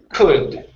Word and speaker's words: could: that one okay so instead of cool the L is silent and it's going to be in CL sound could could there you go one more